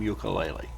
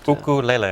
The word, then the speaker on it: ukulele: The name ukulele.